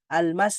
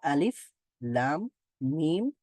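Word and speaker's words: الم: হবে সেটা আমরা জেনেছি এগুলোকে হরফের নামগুলোই উচ্চারণ করতে হবে আল মাস বলবো না এটা আমরা আমরা বলব আলিফ লাম মিম সদ প্রত্যেকটা হরফকে আলাদা আলাদা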